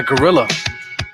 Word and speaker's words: Grrlla: This beat is made by Gorilla. Name is spelled Grrlla. He goes by Gorilla Soul, and you can find him on Instagram.